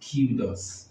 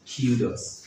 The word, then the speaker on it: kudos: So the first word is pronounced kudos, kudos, kudos.